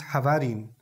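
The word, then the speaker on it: חברין: is in the Hebrew, was originally Habarin, in Aramaic, pronounced Havarin, which is similar to what word?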